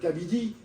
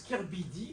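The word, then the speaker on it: K/Bidi: de la Réunion Émeline Kabidi. Et en fait on prononce Kirbidi Ouais ouais mais elle est à la Réunion.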